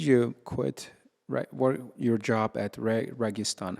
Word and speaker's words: Registan: So, what made you quit your job at Registan? How do you guys pronounce it, by the way?